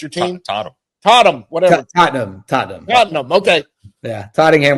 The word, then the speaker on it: Tottenham: are Premier League football fans and I guess tottingham is that your team totam totam whatever Tottenham Tottenham Tottenham okay yeah tottingham they haven't been